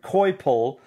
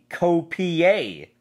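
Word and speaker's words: Coipel: where this series goes I used to pronounce Olivier Co PL as a live oliviere koi Pole I was corrected by a customer who said it's olivier COPI a well I guess not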